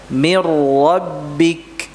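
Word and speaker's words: مِن رَّبِّكَ: Tulisannya min rabbik, dibaca mir rabbik. Tasydidkan. Mir rabbik.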